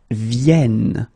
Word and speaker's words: viennent: and the last one, because you've got this double N here, you need to pronounce this like and that's the reason why you should pronounce it viennent, viennent, okay?